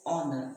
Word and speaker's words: honor: he pronounced it as honor the H is silent and the world honesty